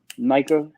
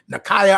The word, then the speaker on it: Nika: We was I keep saying her name wrong. What's her name? We was on her show yesterday. Nika. Yeah, I look. Every time I say, I be like Nakaya.